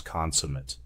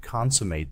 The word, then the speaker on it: consummate: This is stressed on the first syllable con. But when the word is used as an adjective, the stress shifts to the second syllable. This is the reverse of the usual rule.